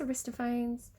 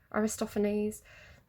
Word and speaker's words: Aristophanes: check is it aristopher I don't think it's aristophones Aristophanes um I always pronounce everything wrong euripides it's um media by